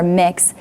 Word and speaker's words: Mx: be accepted so with the sounds of MX being pronounced as mck or mix does this really make